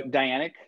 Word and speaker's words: Dianic: witchcraft dynamic witchcraft yeah so dianic like the like the goddess diana so diana witchcraft is